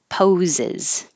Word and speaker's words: poses: jaw sucks that sucks poses poses because if this word was by itself pose that s really sounds like a z pose clearly clearly basically